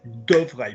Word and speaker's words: devrais: Devrais, people.